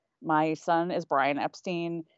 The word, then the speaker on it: Epstein: why he thinks that Brian's last name is pronounced Epstein exactly one of the main arguments for Epstein